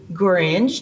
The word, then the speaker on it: Gorringe: And I am so pleased today to have Jessie Gorringe. Did I pronounce it right?